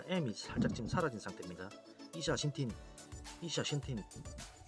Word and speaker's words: ixaxhintin: X가 SH 발음이 납니다. SH 발음. 이샤신틴. 그렇죠? 이샤신틴인데 여기 지금 M이 지금 생략이 됐다고 보면 됩니다.